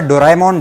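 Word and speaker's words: ドラえもん: वैसे अगर आप सोच रहे हैं कि मैं डोरेमोन को बार बार डोराएमोन डोराएमोन क्यों बोल रहा हूं, तो मैं आपको बता दूं कि इसका असली प्रोनाउंसिएशन डोराएमोन ही है।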